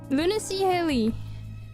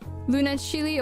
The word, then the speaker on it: lunacyhilly: My name Luny Hely. But I think most people uh either add or add or remove a letter. So a lot of people accidentally call me Luna Chili or Luna Chili, which is not quite right.